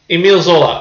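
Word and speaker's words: Émile Zola: Is that how you pronounce his name? Emile Zola? Tell me, Forvo. Come on. Emile Zola. All right, thank you, Forvo.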